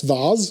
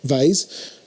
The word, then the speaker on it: vase: got a really nice vars or as americans say vase i might want to